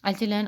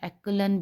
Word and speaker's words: echelon: एचलन, और इसको एचलन भी प्रोनाउंस करते हैं और एक्लन भी प्रोनाउंस करते हैं, ठीक है। आपकी चॉइस है, आप एचलन करें या एक्लन करें।